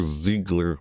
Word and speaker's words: Ziegler: Ziegler Mercy, that's how you pronounce it, Mardi Gras Ash, it looks like